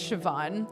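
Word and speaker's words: Siobhan: my next destination anyway the name is pronounced sioban yeah I always forget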